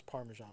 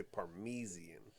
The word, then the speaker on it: parmesan: that particular Earth except they pronounce parmesan wrong kind of a rush job everything's the same except for how they say parmesan yeah they say parmesian and he and Morty